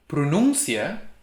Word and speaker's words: pronúncia: related like for example pronuncia is pronunciation a noun but without the accent under you it's pronuncia he pronounces grandfather is vo but